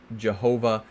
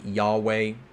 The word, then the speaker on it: Yahweh: People would say Jehovah, but it's probably more like Yahweh. It will be the closest that my mouth wants to pronounce. I don't know the exact way they pronounce it, but Yahweh is the conventional way of referring to God's name, the I am, right?